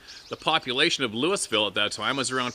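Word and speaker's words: Lewisville: Oh, it's Louisville, not Louisville.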